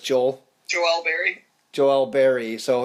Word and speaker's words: Joel: Joel is just Joel.